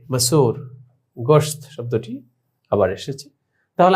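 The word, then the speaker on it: مسور: मसूर, meme scene वाव पेश सो रे मसूर। গোশত শব্দটি আবার এসেছে। তাহলে আমরা বুঝতে পারলাম যে ওয়াও কখনো দীর্ঘকারের মতো উচ্চারণ হয় এবং ওয়াও কখনো ওকারের মতো উচ্চারণ হয়।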